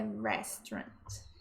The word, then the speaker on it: restaurant: E aqui também tem um detalhe de pronúncia, que é re e não ré. Não é restaurant, é restaurant.